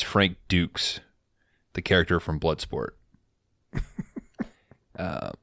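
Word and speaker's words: Dux: I think he's he calls him Frank uh ducks and it's Frank Dukes the character from Bloodsport uh that's the one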